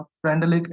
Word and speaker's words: Freundlich: नाम क्या है इसका? फ्रेंडलिक। FREUN। फ्रेंडुलिक, जो भी आप प्रोनाउंस कर सकते हो। DLICH, फ्रेंडलिक adsorption isotherm.